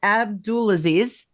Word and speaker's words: Abdulaziz: So it's Abdulaziz.